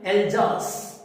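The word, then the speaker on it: Alsace: ठीक है, और कौन से शहर की कहानी है, एल्जास, एल्जास। ठीक है, ज वाला वाइब्रेशन वाला जे बेटा।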